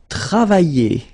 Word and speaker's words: travailler: And then the first one, it will be travailler. Travailler. Okay, remember when you get this I and then double L like that and a vowel. I. Travailler.